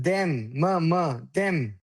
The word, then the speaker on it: them: Then this is then. This is them. M them.